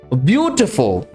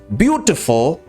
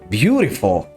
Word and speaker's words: beautiful: the word is not beautiful but beautiful it's beautiful the letter t in this word shouldn't be pronounced it has to be pronounced de thereby it is beautiful